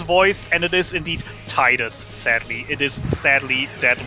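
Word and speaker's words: Tidus: it titus or titus you pronounce it titus you pronounce you spell it t-i-d-u-s yes uh it is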